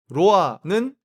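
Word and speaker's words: roa: 이 로아의 발음은 한국 사람들이 잘 할 수 있는 단어라고 생각합니다. 이게 영어의 로미오 할 때 그 로아도 아니고, 영어의 롱 할 때 그 로아도 아니고, 우리가 하는 그 리을 발음인 로아로 하면 딱 맞아요.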